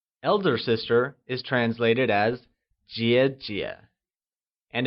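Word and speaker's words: 姐姐: sister is translated as Jia Jia and is pronounced using the falling rising tone can you try and say Jia Jia good younger sister translates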